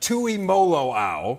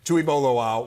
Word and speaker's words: Tuimoloau: Tuimoloau, right? We're gonna have him on today. I'm gonna have to say his name many times. Tuimoloau was absolutely fabulous.